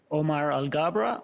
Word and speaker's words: Omar Alghabra: the record please State your full name and spell it out Omar algabra Omar a-l-g-h-a-b-r EBR a and uh regulation in